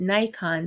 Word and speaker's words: Nikon: from Gary Nikon oh Nikon USA marketing materials pronounced it Nikon so end of debate at least in the USA right Leo is